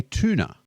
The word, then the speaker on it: tuna: So, we pronounce it like a chew, like a train. Choo choo. Here comes the tuna train. Americans say tuna.